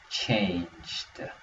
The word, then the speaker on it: changed: a little bit different because it has the past tense. It has the d at the end. So we're going to say it like changed.